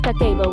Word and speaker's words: Kakeibo: Kakebo, pronounced kako, was developed in 1904 by Hanimuk, Japan's first female journalist and later a publisher of a women's magazine.